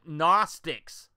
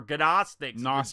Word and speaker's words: Gnostics: the legacy of the gnostics all right or godostics the g is silent the world the Gnostic